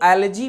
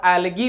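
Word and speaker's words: algae: तो इसका प्रोनाउंसिएशन जो होता है वो एलर्जी भी होता है और एलगी भी होता है। दोनों प्रोनाउंसिएशन होता है और दोनों सही है।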